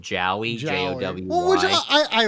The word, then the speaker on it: Jowy: Joey, but it's spelled Jowy, Jowy. Well, which I like, because it makes it feel different, I guess. Yeah, it's supposed to be pronounced Joey.